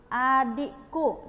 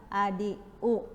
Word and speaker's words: adikku: Harus kemudian contohnya lagi, adikku, dia bacanya apa? Adiku. Nah itu enggak ya, jadi harus membaca dengan benar atau lafal yang tepat.